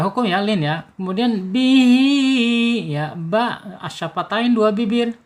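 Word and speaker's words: بِهِۦ: ab mantul ab gitu bihi Ya, di sini ada ee ha ya, hair ya atau ha silah. H silahnya menghadapi huruf alif ya. Ketika ada mad silah menghadapi huruf alif berarti silahnya silah tawil ya. Tawil atau jauh atau panjang gitu. Panjangnya en harakat. Bihi ya panjang enam harakat.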